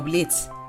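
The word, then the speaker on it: Blitzø: activez la cloche Curiosidades La "o" dans le nom de Blitz est silencieux, car il se prononce comme "Blitz", qui en allemand signifie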